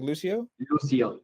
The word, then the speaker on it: Lucio: How do you say it? Like Lucio. Lucio. Like see in Spanish.